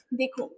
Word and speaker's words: the: अगर किसी भी नाउन के आगे वाला जो साउंड है वो कॉन्सोनेंट होता है तो उसके आगे हम प्रोनाउंसिएट कैसे करते हैं THE को? एज द। और किसी भी नाउन के आगे वॉवेल साउंड होता है तो उसके आगे क्या लगाएंगे हम प्रोनाउंसिएशन में? दी लगाएंगे।